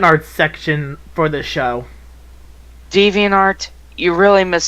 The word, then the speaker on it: DeviantArt: you get all sassy I pronounce the debian tart okay it's always been pronounced deviantART Dumbo indeed and I'm